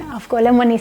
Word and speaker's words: Avgolemoni: So you'll hear me saying Avgolemoni soup because that's how I've been brought up. In Cyprus, that's how they say it, and ggmix are representing